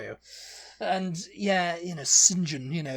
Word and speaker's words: St John: know how you know to pronounce the surname St John as singen singen SM yeah what is